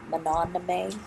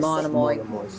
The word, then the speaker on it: Monomoy: Now, Mononomy, is that how you say it? Monomoy.